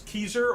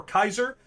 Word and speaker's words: Caesar: at this time because keyser or kaiser as it would actually be pronounced in ancient latin um i don't agree